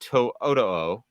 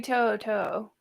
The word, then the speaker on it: To'oto'o: begin with uh Henry Toyota did I pronounce that correctly I think it's Henry Toto is what I've been taught it is Henry toot uh inside joke I've